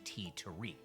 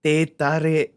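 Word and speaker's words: teh tarik: Malaysian tea tariq. Bro, that's not how you say it. It's te tare.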